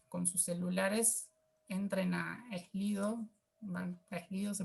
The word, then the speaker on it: Slido: Ahora los invitamos a que con sus celulares entren a Slido. ¿Slido se pronuncia, Lucas?